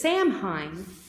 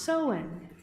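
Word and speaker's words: Samhain: ancient Celtic Festival of soen it reads as Sam Hein but it's pronounced sohen the Celts who lived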